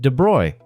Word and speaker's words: de Broglie: In 1924, a French physics student named Louis de Broglie, and yes, it's pronounced "de Broy", French people are just built different, proposed something absolutely unhinged in his doctoral thesis.